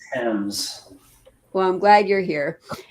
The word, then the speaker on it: Thames: Okay, so the answer to the trivia question is River Thames, Thames, River It's pronounced Thames.